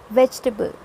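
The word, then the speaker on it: vegetable: ज़्यादा आप जोर दोगे and then you will pronounce the word. It's वेजिटेबल.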